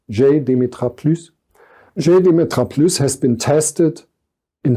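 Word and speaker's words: JDemetra+: The results of GDemetra+, it stems from France and hence I try not to pronounce it German or English, GDemetra+.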